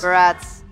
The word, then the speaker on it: Barats: Barats. Wait, Barats rhymes with But but strats, right?